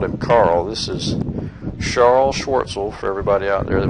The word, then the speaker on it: Charles Schwartzel: This is Charles Schwartzel, for everybody out there that was mad at me for mispronouncing his name.